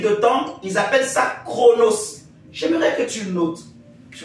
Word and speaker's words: Chronos: le premier type de temps ils appellent ça chronos j'aimerais que tu notes tu vas bien comprendre